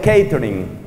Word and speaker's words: catering: Esa palabra se escribe catering, así como se oye, y se pronuncia catering.